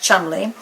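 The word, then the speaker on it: Cholmondeley: when we were back in 1990 we visited Chumley Castle actually it's spelled CH Mand but it pronounced Chumley with Aunt Barbara and Brandon and Molly and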